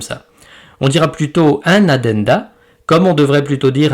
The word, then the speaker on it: addenda: Ce n'est pas Adada mais Adenda.